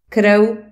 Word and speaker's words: krv: R et L peuvent jouer le rôle de voyelles. Ça donne des mots merveilleux tels que plný, plein, prvý, premier, prší, il pleut, zmrzlina, glace, vlk, loup, krv, sang, štvrť, car, ou